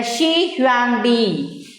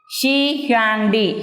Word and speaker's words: Shi Huangdi: Here, the Shi Huangdi, the emperor Shi Huangdi. Shi Huangdi.